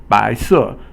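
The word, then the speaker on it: 白色: 白 is second tone, and 色 is fourth tone. So the second tone is a rising tone, and the fourth tone is a falling tone in Chinese.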